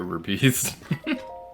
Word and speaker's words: rupee: kind of funny selling your rubies to get rupees i know it's pronounced rupee but i don't like that pronunciation so i'm gonna keep calling it ruby and there's nothing you can do to stop